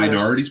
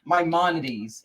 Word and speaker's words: Maimonides: I've tried some Minorities Park? Maimonides.